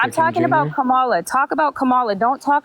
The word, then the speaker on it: Kamala: And I could also, it's pronounced Kamala Harris. Kamala, I pronounce her name right, I'm going to kick you.